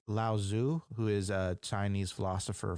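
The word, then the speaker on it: Lao Tzu: it is it's not there's a t in there which isn't pronounced and when you say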